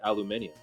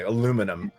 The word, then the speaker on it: aluminium: We just pronounce it differently. Aluminum. Aluminum. Okay. In fact, I would argue that we actually pronounce it more correct here in the States than you guys do, because it's if you listen to how you're saying it and how it's spelled, I think you guys are wrong.